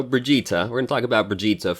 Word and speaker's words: Brigitte: today we are gonna talk about Bridget let's maybe actually say her name correctly at least once in the video Brigitta we're gonna talk about